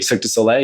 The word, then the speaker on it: Cirque du Soleil: I always pronounce this wrong. Is it Cirque du Soleil? Cirque du Soleil, yeah.